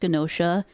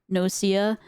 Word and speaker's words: Genosha: realize that it was actually pronounced Genosha and not Nocia.